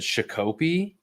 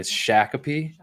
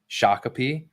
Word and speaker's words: Shakopee: up here there's like I said Chicopee or it's in a Shakopee Shakopee even though it's an a yeah okay yeah I'm